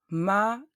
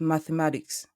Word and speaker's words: mathématique: Mathématique, not mathematics. Mathématique. The H is silent, and the E and S at the end of the word mathématique are also silent. And we have an E accent aigu. Mathématique, like in the word marié.